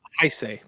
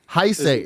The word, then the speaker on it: Heisei: Thus began what would later be known as the Is it Heisei? Heisei? Heisa? Heisei. Heisei. That's how I've always pronounced it.